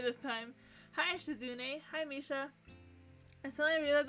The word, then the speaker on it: Shizune: Hi, I'm pronouncing her name right this time. Hi, Shizune.